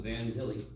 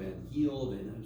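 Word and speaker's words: Van Hiele: interesting I'm going to call him van hilly van hilly but I've heard van heel so it's van h i e l e so it depends on who you ask as to how to pronounce his name he's no longer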